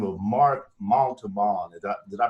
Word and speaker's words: Montalban: have a guest by the name of mark maltobon did i pronounce that right mark pretty good pretty good okay you say it montalban okay the mark is the founder and ceo